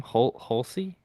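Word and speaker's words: Hulce: What my first note was how do you pronounce this guy's name? Holsey? Hulse. I think it's just Hulse. Hulse.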